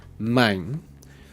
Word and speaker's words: mijn: So for the possessive pronouns, the word for my is mijn. You would spell it with M-I-J-N.